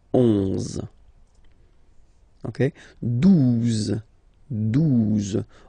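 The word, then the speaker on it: douze: 12, 12, O, U, the two together will give you the sound OO, okay? And then Z, 12, 12, alright?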